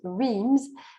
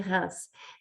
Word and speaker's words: Reims: ville s'appelle reims reims en anglais souvent ça se prononce weems mais en français on dit reims et reims ça s'écrit